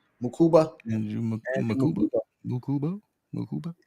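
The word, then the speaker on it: Mukuba: How you pronounce his name? Makuba.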